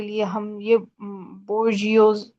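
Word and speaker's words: bourgeoisie: के लिए हम यह बोजियोस बोजियोस ये एक वर्ड है थोड़ा सा डिफिकल्ट भी होता है यह प्रोनाउंस करने में बट I must tell you कि इसको प्रॉपर्ली कैसे प्रोनाउंस करना है बजजी ओके मुस्लिम बर्जजी मींस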